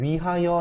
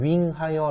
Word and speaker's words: 위하여: 여러분들 뭐뭐를 위하여 라고 해요, 뭐뭐를 윙하여 라고 해요. 당연히 위하여 라고 할 겁니다. 그러니까 쓰기만 하고 발음을 안 해야 돼요.